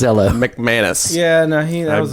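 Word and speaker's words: MacManus: uh declan his name is declan patrick eloise smekmanis i would totally i would totally change my name mcmanus yeah now he that was a really good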